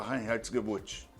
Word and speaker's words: Reinheitsgebot: Mas a gente vai explorar os verdadeiros motivos da promulgação da Reinheitsgebot, que é a lei da pureza da cerveja.